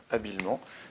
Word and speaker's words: habilement: On a une prononciation en aimant, donc habilement s'écrira avec un seul M, donc E-M-E-N-T.